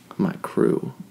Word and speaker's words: MyKreau: But crew is spelled Kreau. Funky. So it's like MyKreau.